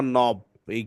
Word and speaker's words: নব: একটু কঠিন সেটা হচ্ছে খেই আর এন যদি থাকে তাইলে খেইটা সাইলেন্ট হয়ে যায় খে এর সাউন্ড হয় না তারপরে এখানে অ আছে তারপরে এটা পড়বা নবই খেই এন অবিজে আছে এটা পড়তে হবে নব আচ্ছা আচ্ছা পড়ো এবার